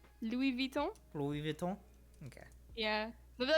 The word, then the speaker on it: Louis Vuitton: pronunciation? Louis Vuitton.